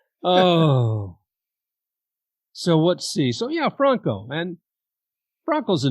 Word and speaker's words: Franco: It's Franco, not Franco, Franco. Write it down, FRAHN-CO, if you want to try to do some kind of pronunciation on it.